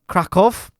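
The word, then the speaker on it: Kraków: in the city of Krakow. Yeah, I was saying last week that I mispronounced that city, so I'm pronouncing it correctly first time, this time around.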